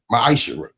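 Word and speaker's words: מעשר: Means 10th in Hebrew, and is pronounced Ma'asherah.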